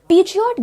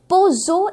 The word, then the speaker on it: Peugeot: Peugeot गलत pronunciation हो जाता है और सही प्रोनाउंसिएशन है Peugeot इस पर्टिकुलर कार का सही प्रोनाउंसिएशन है, it